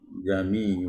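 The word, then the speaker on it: أأعجمي: kalimat jamiu bagaimanaam Jadi dua hamzahnya itu tetap dibunyikan dengan keras gitu ya jamiu gitu yau baik sekarang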